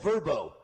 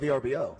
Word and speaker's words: VRBO: though it's called Verbbo. Is that what people call it? Verbbo. I call it VBO. VBO. Yeah.